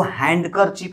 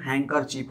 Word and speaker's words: handkerchief: जैसे देखिए HANDKERCHIEF, हैंकरचिप मतलब रुमाल, तो इसको हैंडकरचिप नहीं बोला जाता है, बहुत लोग बोलते हैं लेकिन इसका उच्चारण हैंकरचिप होता है।